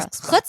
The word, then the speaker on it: chutzpah: They both had like chutzpah. How do you say it? Chutzpah. I got you, girl. Chutzpah. Okay. Yeah, you can do the cha.